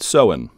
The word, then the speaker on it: Samhain: ancient Celtic peoples of Ireland used to celebrate seen and yes it's spelled samhan or saman but it's pronounced SE